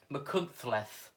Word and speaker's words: Machynlleth: You'll do Machynlleth in a moment, which is the correct pronunciation. Machynlleth.